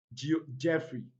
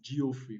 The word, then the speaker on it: Geoffrey: to these words are jeffrey you pronounce you guys mispronounce the word as geoffrey which is wrong another one is leopard